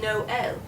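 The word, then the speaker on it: Noël: didn't pronounce it no they pronounced it no el well that's because the french word for christmas christmas which is noel is this word but it has an accent mark in it it's got two little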